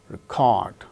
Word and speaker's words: record: Second syllable gains stress when it is used as verb, record. We go for recording things or proceedings and a record.